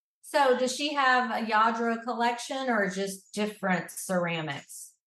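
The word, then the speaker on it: Lladró: a yro figure oh yadro I love that stuff for the listeners it's spelled l l d r o and it's uh from Spain I believe yeah and I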